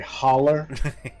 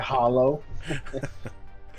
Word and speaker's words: holler: that's all this was it's pronounced a holler not a hollow yes damn it your